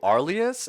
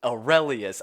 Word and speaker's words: Aurelius: with your name, because I always call you Arlius. Is that 100? Is that even right? No, but it has been really funny hearing you pronounce it this way this entire time. It is Aurelius.